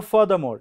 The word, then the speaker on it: furthermore: Now furthermore, furthermore, now here is not, Ra sound is silent. Furthermore, furthermore, see, this Ra is also silent, this Ra is also silent, this Ra is also silent here last.